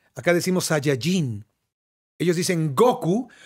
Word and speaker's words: Goku: Sayayín Ellos dicen Goku porque de acuerdo al español como se escribe y se acentúa la palabra llevaría el acento en la o Goku y ellos dicen Goku y nosotros decimos Goku porque así lo vimos en el japonés dicen Goku se llama Goku claro por